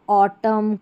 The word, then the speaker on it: autumn: यहां पर rule one हो गया कि जब शब्द एम एन पर समाप्त होता है तो एन का उच्चारण नहीं होता।